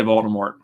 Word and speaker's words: Voldemort: you're auditioning oh yeah I say Voldemort so I pronounce the T but when jim Dale